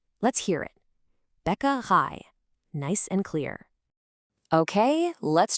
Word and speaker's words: Bäckerei: Remember that A sound at the end? It's just like the English word I. Let's hear it. Bäckerei.